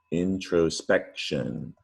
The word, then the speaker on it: introspection: carried over to english looks like it should be pronounced tion really but it's pronounced shun or shin which makes it really tricky to spell introspection not to be confused